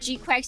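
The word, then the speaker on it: GQuuuuuuX: And G-Quax is not how you would spell it. It's G-Q-U-X.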